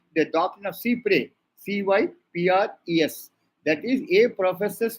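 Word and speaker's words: cy-près: It is not Cyprus, it is Cypres. S is silent.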